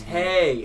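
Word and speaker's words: pâté: Oh, pate. Oh. Okay. It was autocorrect. Well, just how they spell is different than how you say it. Yeah, pate. Oh. Yeah, it's spelled P-A-T-E, but it's spelled P-A-T-A-Y.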